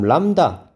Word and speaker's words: 람다: 다음 람다, 이게 파장입니다. 람다라고 읽어요. 람다.